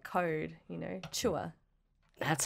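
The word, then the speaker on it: CHWH: I like to call the band Chua, which is how I pronounce the acronym.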